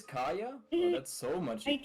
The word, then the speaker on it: Kaeya: now I can correct you. It's Kaya. Oh, it is Kaeya?